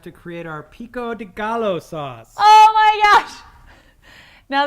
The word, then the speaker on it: Gallo: It's because the LL, the double L in Mexican-y. In Mexican. Yes, let us talk about the language of the Mexicans. The LL in Mexican-y is silent. It makes a ya.